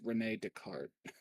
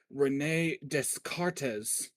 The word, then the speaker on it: Descartes: I find it funny, like I went to see, like Yeah, butchering I think this guy's name is actually pronounced Rene Descartes, Rene Descartes.